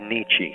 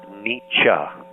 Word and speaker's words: Nietzsche: about Kierkegaard and Nietzsche, I said Nietzsche, shame on me. His name is pronounced Nietzsche.